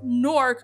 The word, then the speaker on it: Newark: actually calls it that it's nork with one syllable like pork poser in jersey she